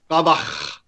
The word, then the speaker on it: Gladbach: So, Nick, I would appreciate, given that you're on the show with 3 other incredibly astute soccer experts, that you pronounce it correctly. Gladbach.